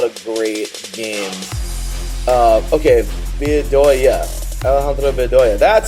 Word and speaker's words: Alejandro Bedoya: Alejandro Bedoya.